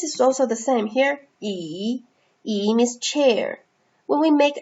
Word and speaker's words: 椅: So together, this chair is pronounced as 椅 in Chinese.